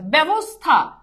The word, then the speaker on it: ব্যবস্থা: জফলের সাথে আকার আসে ব্যবস্থা আকার নাই আকার আছে আচ্ছা বলতো এইটা কি